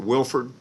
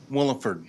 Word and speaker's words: Williford: Am I pronouncing that correctly? Is it Wilford? Williford. Williford, got it.